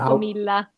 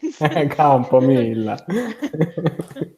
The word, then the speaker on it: Campomilla: how Campomilla. Campomilla. Okay, okay. Like the Italians. Campomilla.